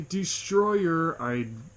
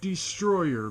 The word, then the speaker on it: Destoroyah: Yes, I am pronouncing it Destroyer because in the movie they call it Destroyer. They don't say DESTOROYAH. They do not say that in the movie one time.